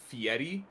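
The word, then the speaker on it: Fieri: Um, of course I could very much be wrong there, but I've never I've never seen or heard of a language or culture that would pronounce the double Rs as a T.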